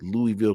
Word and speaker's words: Louisville: I am a Louisvilleian and people say that you don't say it right. You don't say Louisville. Well, I say Louisville, Kentucky because that's what Muhammad Ali said.